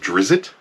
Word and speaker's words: Drizzt: Salvatore box set of The Legend of Drizzt, I believe is how you pronounce that.